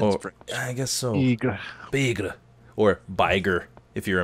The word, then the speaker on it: Bigre: Bigre. Bigre. Or Bigre, if you're American. Bigre. Bigre. It's like tiger, but spelled wrong.